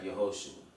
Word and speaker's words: Yehoshua: Moses merely added the Hebrew letter Yod to the name O'Shea. So here you see it's spelled He, Vav, Shin, Ayin. And when he adds the Yod, you have Yehoshua.